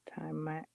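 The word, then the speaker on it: Taimak: Oh, it has a pronunciation here. Timac, Timac, Timac, Timac is an American actor, martial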